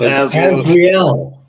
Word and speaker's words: Azriel: I hope I'm pronouncing it right. It's Azriel.